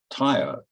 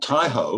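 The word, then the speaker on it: taiao: for an owner and use the word tayo because that's the word that captures all of this the maori would tie up i hope my pronunciation's okay remind pale not tai ho which means slow down is the word which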